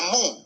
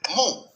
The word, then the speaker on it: mu: Mira, el vector momento dipolar se lo representa con una letra griega que se pronuncia sea mu, como el mugido de una vaca, mu.